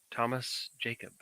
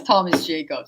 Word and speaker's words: Tomas Jakab: Yeah, it's Tomas Jakab. So there's no, Okay. yeah, it's the last name's Hungarian and the first name is Spanish.